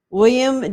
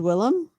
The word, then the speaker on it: Willem: you ever consider drawing william dafoe's green goblin or william day fo huh he says willem willem dafoe willem dafoe